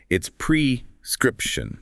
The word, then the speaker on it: prescription: It's prescription. Prescription. Exactly. Not prescription. Get that script part clear and stressed.